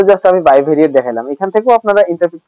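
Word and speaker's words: bivariate: এটা হচ্ছে আমাদের মূলত বাইভেরিয়েট অ্যানালাইসিস, বিআই ভেরিয়েট, যেটা বাই বি ভেরিয়েট বলে অনেকে, বাট এটা উচ্চারণ হচ্ছে বাইভেরিয়েট।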